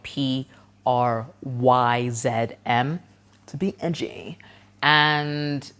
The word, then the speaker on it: Pryzm: Prison and Prism sound exactly the same, and they're spelled completely different. So this nightclub is spelled Pryzm, to be edgy.